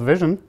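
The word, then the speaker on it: VSHN: at a company called Vision yes it's pronounced Vision like Vision even though it's spelled funny um we call ourselves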